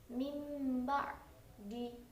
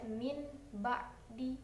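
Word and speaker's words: مِنْ بَعْدِ: Jadi tidak dibaca min ba'di, tapi suara dud itu diganti menjadi suara mim. Jadinya seperti yang barusan mim ba'di. Cara bacanya menjadi mim ba'di bukan min ba'di.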